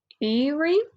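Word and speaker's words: Aeri: It's pronounced Iri.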